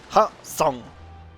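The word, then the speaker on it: Hwaseong: I'm gonna, for once in a Blue Moon, I'm gonna give you the correct pronunciation of the castle. Let's go. Ha-song.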